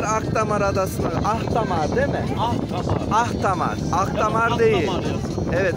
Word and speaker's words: Ahtamar: Ahtamar. Ahtamar. Ahtamar değil. Ahtamar. Evet, Ahtamar diye yazılır. Ahtamar diye okunur.